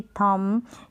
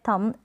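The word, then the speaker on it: thumb: रहा है, जैसे कि थम। यहाँ पर B जो है थम, M तक ही प्रोनाउंसिएशन हो रहा है, B साइलेंट है।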